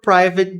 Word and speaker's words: private: Attacking their character or looking for private details ou buscar por detalhes privados. or looking. Não falamos este G aqui. Or looking for private private. Private. Como se tivessem dois is ali mesmo.